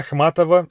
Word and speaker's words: Ахматова: Anna Ахматова is of course the way you say her name.